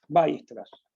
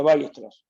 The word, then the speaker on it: Weierstrass: Voy a decir cómo se pronuncia Weierstrass. Se pronuncia a lo bestia así. Va. Weierstrass. Hay unos fonemas truchos.